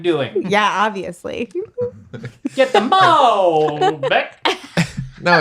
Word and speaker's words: Malbec: Get the Malbec. No, it's you're putting the emphasis. Malbec, yeah. You're putting Get the Malbec. putting the emphasis on the wrong syllable.